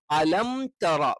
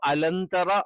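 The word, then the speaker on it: ألم تر: ഇല്ല പകരം അസ്ഹാബിൽ അപ്പൊ അലന്തറ ആയി പോകാൻ പാടില്ല അലം പിന്നെ തറ എന്ന് തന്നെ കറക്റ്റ് വേണം തേ ആയി പോകരുത് അലംതറ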